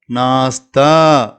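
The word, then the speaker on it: नाश्ता: நான், இது அப்படின்னு உச்சரிக்கணும். இது தா நெடில் சொல்லணும். தா. அப்போ நாஸ்தா, நாஸ்தா அப்படின்னு சொன்னால் காலை உணவு, பிரேக்ஃபாஸ்ட் அப்படின்னு அர்த்தம்.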